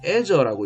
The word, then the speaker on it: Azure: Azure라고 읽는데, Azure라는 이름으로 마이크로소프트는 자신들의 사업 중에서 클라우드가 가장 중요하다고 미국 본사에서 선언하는 현장에 제가 직접 수년 전에 가본 적도 있었습니다.